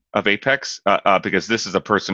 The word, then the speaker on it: APEX: be in the know it's pronounced Apex and she said but it's application expressed shouldn't it be a pecks and I said Safa I'm sorry it's it's apex so then eventually they